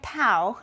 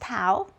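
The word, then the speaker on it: tau: The torque is expressed by the Greek letter toao. I'm on page uh 180. So the torque in physics and and then don't forget that that Greek looking t is pronounced toao.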